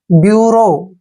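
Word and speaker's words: bureau: बी यू आर ई ए यू देखिए इसका उच्चारण हमने क्या करना है ब्यूरो क्या पढ़ें इसको ब्यूरो ब्यूरो मींस होता है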